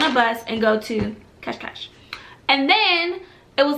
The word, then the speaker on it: Cascais: beach area, and it's Cash, something like that. I think I'm pronouncing it correctly, because when I first saw it, I said Cascais, which is totally wrong. It's like Cash, something like that.